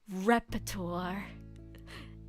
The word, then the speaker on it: repertoire: It's repertoire.